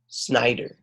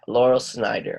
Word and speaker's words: Laurel Snyder: name to the the author's name Lyle Oh Schneider neither yeah Laurel Snyder all right can you also read this maybe